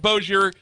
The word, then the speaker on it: Bossier: So it's the Shreveport Bossier Convention and Tourist Bureau. You said it right.